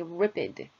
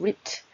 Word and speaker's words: ripped: 근데 이 동사가 과거로 바뀌어도 음절은 변하지 않는다라는 거죠. 그래서 더 쉽게 말씀드리면 ripped 이렇게 ripped 이렇게만 발음을 해주시고 off ripped하고 off를 같이 붙여서 하나의 단어처럼 이야기를 하시면 됩니다.